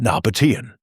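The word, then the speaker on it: Nabataean: Pronunciation Nabatian.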